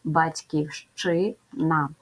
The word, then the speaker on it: Батьківщина: друге в цьому слові є буква ща яка позначає два звуки ш ч тому вимовляємо Батьківщина виконуємо транскрипцію б твердий